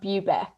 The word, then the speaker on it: Bubeck: your last name so if you want to pronounce it yep so everyone always gets confused it's bubeck okay i was pretty close i feel like i said boo back but bubeck makes sense cool every everyone always says that